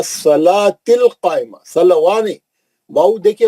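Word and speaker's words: الصلاة: मुकामदा माशा्लाह इसमें बहुत सा गलतियां है ना सलवािल नहीं पढ़ना वो वाऊ साइलेंट है व सलातिल कायमा सलवा नहीं वाऊ देखिए वाऊ पे कुछ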